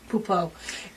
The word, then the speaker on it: Poupeau: Lisa Kay's waiting for Poupeau. Poupeau. It rhymes with Waiting for Godot, which is a play.